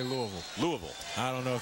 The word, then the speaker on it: Louisville: I think the locals, it's a two-syllable word. It's Louisville. Louisville. So, but you and I are still both at about 2.5 syllables.